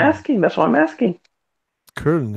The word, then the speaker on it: Köln: Köln is how you say it.